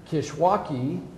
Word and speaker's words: Kishwaukee: And then Kishwaukee College, right? Am I pronouncing that right?